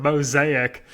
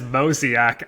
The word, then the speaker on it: mosaic: I mispronounced the word mosaic as mosiac. And for like days, people were like, "Oh, Mosiaak, huh?"